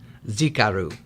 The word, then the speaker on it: Xicaru: a couple things about Z Krew you know before we get started the name is very difficult to pronounce it's a Zapotec name which is the indigenous people of Oaxaca and Mexico where we